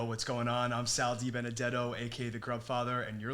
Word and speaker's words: DiBenedetto: I'm Sal DiBenedetto, aka the GrubFather, and you're listening to Growing Up Italian Podcast. This is the Growing Up Italian Podcast, and we are here today with our friend Sal DiBenedetto.